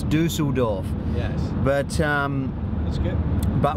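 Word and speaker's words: Düsseldorf: he told me that when you pronounce the U with the 2 dots over the top of it, it's oo. Oo. Dusseldorf. So it's Dusseldorf.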